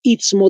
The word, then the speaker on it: istmo: 80 kilómetros de distancia en el Istmo de Panamá. Se escribe ITSMO, ¿no ve? Istmo, tal como se escucha, sin la H.